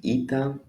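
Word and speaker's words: ήτα: Then we go to ita. Looks like an H, I know. The small maybe as an N. Still it is ita. E sound sounds like I in it.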